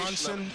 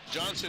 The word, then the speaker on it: Johnson: Number 6 is Jessica Johnson or Jensen. We're trying to get the proper pronunciation. Johnson, yep. Johnson it is, okay?